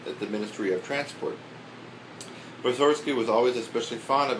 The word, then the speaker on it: Mussorgsky: He always pronounced his name Mussorgsky, with the accent on the first syllable. Oh, Mussorgsky. Nobody ever listened to him, and today we all pronounce it Mussorgsky, which sounds right to us.